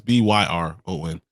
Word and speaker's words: Byron: thought was Myron Young Who I thought his name was Byron not Brian it's I think it's spelled just like the way you spell it's inspiring it's b-y-r-o-n it's Byron because he's the edge rusher